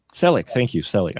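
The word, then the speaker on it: Selick: Henry uh uh Selnic, I pronounce Celich. Celic, thank you. Celic, I always put an N in there.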